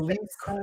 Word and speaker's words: Lisicak: It is Lisicak.